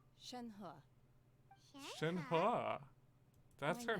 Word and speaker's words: Shenhe: Do I get to talk to Shinhei? Shenhe.